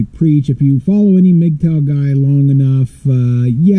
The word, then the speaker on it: MGTOW: yes the mgtow guys mugtail of course you know like nobody could say it right right so I just say mgtow I know there's no I in there but I just mtow you know fight me